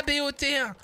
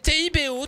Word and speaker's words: Thibault: pas béat c'est pas bot c'est Tibo tout simplement comme ça se prononce et elle te rajoute